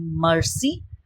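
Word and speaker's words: merci: Thank you so now it's quite similar with the word English word mercy but there is a difference in the pronunciation so pronunciation is Mercy Mercy Des Des is sorry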